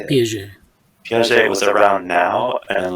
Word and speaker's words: Piaget: I'm sure if like Jean Piaget, how do you say it? Piaget.